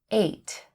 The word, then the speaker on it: ate: Eat, ate. Fall, fell. Feel, felt. Fight, fought. Fly, flew. Forget, forgot. The word 8 is a homophone and is pronounced the same as the number 8.